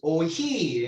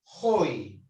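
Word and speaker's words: οἱ: No es oiji, ¿eh? Porque según la regla del diptongo, siempre se va sobre la segunda vocal, segundo lugar, pero pronuncia si estuviera en el primero. ¿Está bien? Por eso, hoi.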